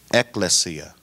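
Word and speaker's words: ἐκκλησία: very fair misunderstanding that the Greek word ekklesia with the first syllable stressed ekklesia translates to church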